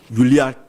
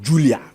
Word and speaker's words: Yulia: Yulia Timoshanku. Yulia no ye Julia.